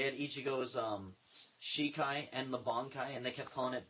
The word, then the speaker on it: Bankai: But who the hell calls it a Banki? It's Bankai. Say it right.